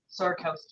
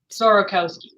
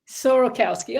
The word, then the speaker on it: Sorokowsky: it up so my first name is sarkowski yeah sir say again sorokowski sorokowski okay I was close and and of course